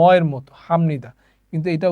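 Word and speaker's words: 합니다: যেটা শিখেছি সেটা হচ্ছে যদি বিয়ূপ বাচ্চিমের পরে কোন নিউন থাকে তাহলে বিয়ূপ বাচ্চিমটা ম এর মত উচ্চারিত হবে ঠিক আছে তো এখানে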